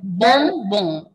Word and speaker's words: bonbon: Nasal sound, okay? Their nasal sound is coming there. Bom, bom.